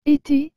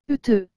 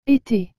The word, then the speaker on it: été: et le mot été vous avez remarqué que j'ai bien dit été et non le theux cela parce que les 2 oeufs sont accompagnés de cet accent aigu c'est pourquoi que nous devons prononcer ces 2 e avec le sont et ce qu'ils donnent été nous continuons maintenant avec